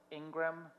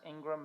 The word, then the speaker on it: Ingraham: mountain in Queens called Ingram spelled Ingraham but pronounced Ingram Mountain North side of